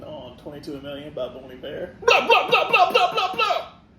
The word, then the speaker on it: Bon Iver: It's whenever we thought they were called Bon Iver. Yep. So it's French. It's pronounced Bon Iver.